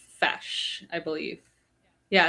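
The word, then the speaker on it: feis: Uh, it's called it's pronounced fesh, I believe. Yeah, it's pronounced a fesh.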